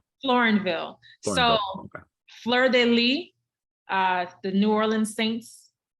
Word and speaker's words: Fleur de Lis: to know how people pronounce their names how pronounced your last name florenville Flur de Lee uh the New Orleans Saints um emblem Flur